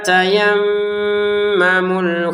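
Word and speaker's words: تيمموا: Wala tayammamul khobitamin. Nah walanya dua harakat. Tayammamu. Ini kita dengungin ya. Tayammamu panjang dua harakat.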